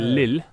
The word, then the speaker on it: Lil: It's not little actually. Lil. Lil. Correct pronunciation.